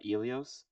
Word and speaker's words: Ilios: of his like building from uh Ilios. That's how I pronounce my uh low earth show by the way.